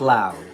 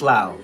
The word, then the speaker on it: Laos: So, it is pronounced Lao. Okay. Thank you. Just Lao. All right. Thank you, Miss Cosmo.